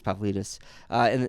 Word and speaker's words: Pavlidis: That's a good pronunciation, actually. It is Pavlidis.